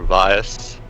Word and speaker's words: Vias: playing well I said I am vas or Vias as it's quite properly pronounced a um very unattentive